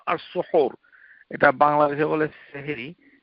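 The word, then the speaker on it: سحور: ও সুহুর, যে তোমরা সুহুর, এই খাবারটাকে বলা হয় সুহুর, ইফতারকে বলা হয় ফুতুর। ফুতুর আর সুহুর, এটা বাংলাদেশে বলে সেহেরি। সেহের যদি হা দিয়ে, সেহের ওইভাবে উচ্চারণটা শুদ্ধ নয়, এটি হচ্ছে সুহুর।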